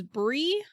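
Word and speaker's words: Brigh: so Bri is spelled b r i g h and as much as I can tell it's pronounced Bri but I have also heard it as Brie okay so we'll go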